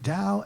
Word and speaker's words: Tao: Dao itself which is spelled t-a-o but pronounced Dao means the way and